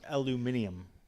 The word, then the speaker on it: aluminium: yeah I don't know yeah but it's pronounced aluminium I'm going to say